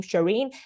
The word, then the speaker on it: Charene: quite lucky and obviously is also a similar pronunciation with my english name shireen and uh the hong